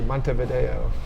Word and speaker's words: Montevideo: alive at night nice i like when you pronounce it correctly montevideo oh i was just there actually in december